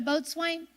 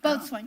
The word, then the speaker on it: boatswain: man on the ship a boatswain I think that somehow you pronounce it a boat swing uh-huh yeah both one yeah he was in